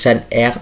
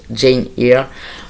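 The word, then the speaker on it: Jane Eyre: Alors, je l'ai vraiment prononcé à la française avec Jeanne R. En théorie, c'est plus Jane ear.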